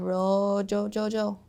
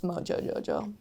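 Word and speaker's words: Mojo Jojo: I'm Ro-Jo-Jo-Jo. Oh, I've never really... Sorry, I said it wrong. It's Mojo-Jo-Jo.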